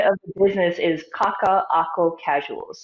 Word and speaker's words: Kaka'ako Kasuals: And so the pronunciation of the business is Kaka'ako Kasuals. There's a glottal stop in between two of the A's.